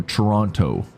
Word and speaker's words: Toronto: to the foreigners, but we call it Toronto. We don't pronounce that T. That's when you know you're a you're a fake. If you put that T in there, we know you're a foreigner just visiting.